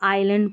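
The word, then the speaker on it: island: और S silent रहता है। जैसे एक तो ये वाला है इज़लैंड नहीं पढ़ेंगे। इसको आइलैंड पढ़ेंगे।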